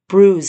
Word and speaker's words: Brooze: But I'm going to update you with maybe a slideshow of bruise. And that's spelled B R O O Z like booze but with an R in it.